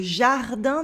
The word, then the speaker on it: jardin: Voir le jardin, the un at the end of jardin is a nasal sound.